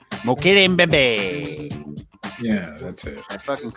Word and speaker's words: Mbembe: Mokele Mbembe. Yeah, that's it. I fucking always pronounce it wrong.